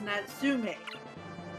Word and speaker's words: Natsume: Moon is owned by Natsume, and that's what like Marvelous can still make the Harvest Moon games. No, you're not saying it right. It's Natsume. Oh yeah, Natsume.